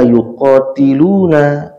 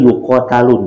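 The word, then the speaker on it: يُقَاتَلُونَ: Ini kalau 15 di sini disebutkan, auzubillahi minasyaitonirrajim, uzina lilladzina yuqatiluna bi annahum zulimu. Maaf. Betul ya. Sesungguhnya diizinkan kepada orang-orang ya yang diperangi, yuqatalun berarti dibacanya, bukan yuqatilun, tapi orang-orang yang diperangi.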